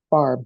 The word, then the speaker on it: Favre: And I'm like, oh, it's Favre.